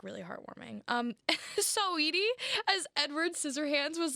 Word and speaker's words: Saweetie: say Saweetie? Sweetie? Oh, Saweetie? okay. Sweetie pie? Well, it's spelled Sugar Sawetee, so it's like saw Wheatie. weedy. Like wheat thins. Weedy. Right. Like a weedy.